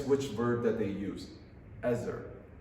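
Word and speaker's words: עזר: You read it with the pronunciation Ezer. Ezer.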